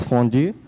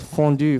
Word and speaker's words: fondue: heavy and it's called fondue fondue is from the french-speaking part from Switzerland so it's pronounced French so I'm gonna introduce